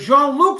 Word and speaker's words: Jean-Luc: But Jean-Luc sends it for free.